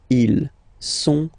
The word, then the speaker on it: sont: Okay, ils sont, final T not pronounced, ils sont, elles sont. Okay, ils sont, elles sont.